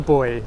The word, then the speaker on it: buoy: So here is the buoy, okay? So don't worry, it's not what you were expecting. It's spelt slightly differently.